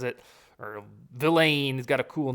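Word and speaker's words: Vilain: and for you know luigi velain i've been pronouncing it wrong the whole time luigi villain on the edge the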